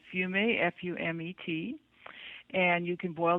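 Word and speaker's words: fumet: you absolutely can today in french it's called fumey f-u-m-e-t and you can boil down the broth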